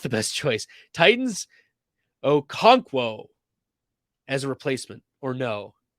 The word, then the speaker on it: Okonkwo: So he was like, guys, it's really easy to pronounce. Okonkwo. Okonkwo.